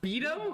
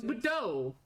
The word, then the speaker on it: beo: It's pronounced bo. I thought it was baux.